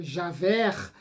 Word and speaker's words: Javert: interpretando o inspetor Javert, melhor dizendo, né, para preservarmos a pronúncia francesa, né, Javert, no musical Os Miseráveis,